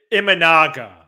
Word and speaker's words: Imanaga: And how do you pronounce the name of the free agent lefty that he's teammates with? Imanaga.